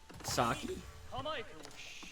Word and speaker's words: sake: I mean, a very, very funny story about sake. That's how you say it.